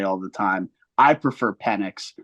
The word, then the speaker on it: Penix: I know people pronounce it the wrong way or the right way all the time. I prefer Penix.